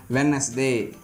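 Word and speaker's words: Wednesday: கீழ்காணும் பொதுவான வார்த்தைகளில் டி என்ற எழுத்துக்கு ஒலி வடிவம் இல்லை. ஸோ இந்த மாதிரியான காமன் வேர்ட்ஸ்க்கு டிக்கு ப்ரொனன்சியேஷன் கிடையாது. அந்த இடத்துல என்ன ஆயிடுதுங்க, டி சைலண்ட் ஆயிடுது. ஃபார் எக்ஸாம்பிள் பாருங்கள், வெட்னஸ்டே, ஹேண்ட்ஸம், ஹேண்ட்கர்ச்சீஃப், சாண்ட்விச் இந்த மாதிரி இதில் எல்லாமே நாம் என்ன பண்ண மாட்டோம், டியை ப்ரொனவுன்ஸ் பண்ண மாட்டோம்.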